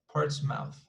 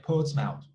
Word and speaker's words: Portsmouth: word here like this this is a city in in the in england so yeah poor smell poor smell poured smell port's mouth although they would say like poet's mouth right like without the r sound portsmouth and this one